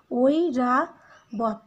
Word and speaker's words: ঐরাবত: দুইটারই যোগফলে হচ্ছে ওই, ঐরাবত। এখানে তোমরা দেখো ওইটা ভেঙে যাবে উচ্চারণ লেখার ক্ষেত্রে, তোমরা এটা লিখবে ওই রা বত।